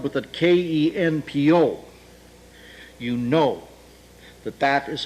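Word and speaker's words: 拳法: The Japanese look at these same characters and pronounce them Kenpo.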